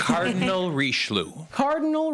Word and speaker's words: Richelieu: Your character's name is, again, and I'm sorry, I'm not going to pronounce it. Cardinal Richelieu. Cardinal Richelieu.